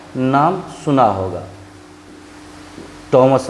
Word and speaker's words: Thames: आपने देखा कि यहाँ TH का उच्चारण ट हो गया है। उसी तरह से दूसरा वर्ड है THOMAS, इसको टॉमस पढ़ा जाता है, थॉमस नहीं पढ़ा जाता है।